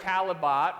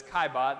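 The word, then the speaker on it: Caillebotte: He looks like Calibot, right? But that's not how it goes. It's Kaibot. That's how you say it.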